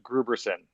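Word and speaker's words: Grooberson: But I'll take this momentary pause to also say that Paul Rudd's character is Mr. Gruberson. That's the correct pronunciation of his name.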